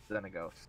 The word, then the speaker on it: Xenagos: I of the four of us, Josh has the final fucking ruling on how it's pronounced. It's definitely right? Xenagos. Xenagos.